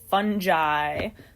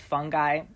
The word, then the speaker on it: fungi: we refer to as fungi sometimes you hear that word pronounced fungi they're both correct you'll hear um even experts pronounce them both ways um so this is